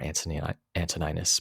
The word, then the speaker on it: Antoninus: of his adoptive father, Antoninus Pius, or Antoninus Pius, sometimes pronounced as well, showing this sense of view, the sense of circumspection.